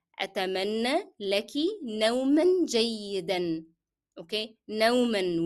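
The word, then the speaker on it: نومًا: Okay, نوما will be pronounced with the sound of N because I connected to the following word.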